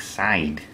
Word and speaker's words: Darkseid: Thanos and Darkseid oh-ho I guess it's pronounced nanos side never really got that it doesn't look like it sounds like side and there's dark huh